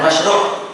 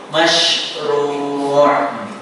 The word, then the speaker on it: masyru': Ru-nya panjang, bukan masyru', masyru'.